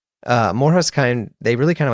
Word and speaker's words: MORJAS: The pod this week, MORJAS. I think I said it right. I did find out you can pronounce the name any way you want. You can say MORJAS, MORJAS, whatever. Each their own.